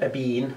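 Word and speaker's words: Ébène: called again it is damier a bean or a Ben depends how you say it it's the first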